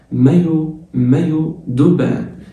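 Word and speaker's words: maillot de bain: مايو دوبان الاي ان في الاخر بتتنطق ان.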